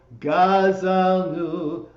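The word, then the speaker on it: גזלנו: for this, is that the words are pronounced Ashamnu, Bagadnu, Gazalnu, Dibarnu Dofi.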